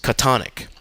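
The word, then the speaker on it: chthonic: of the Old Testament the pronunciation of catan ik is Katan ik which explains Lovecraft's famous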